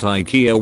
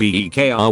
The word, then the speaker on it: IKEA: the CEO of Aiki himself calls it IKEA when giving interviews or keynotes in english-speaking countries but then calls it by the Swedish pronunciation of EE kr when in Scandinavian countries